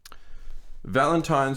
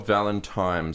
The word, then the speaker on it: Valentine's: Valentines or Valentimes. So it's tricky words. It's like, for years, until today when I went to research what the word was, Yeah. I realized it's Valentines.